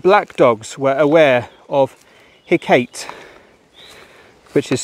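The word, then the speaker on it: Hecate: evil and that black dogs were aware of hey Kate which is spelled h-e-c-a-t-e the ancient Greek goddess of witchcraft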